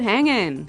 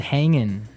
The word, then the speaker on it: hanging: Yeah, but usually you don't really pronounce the G in this context because it's very informal.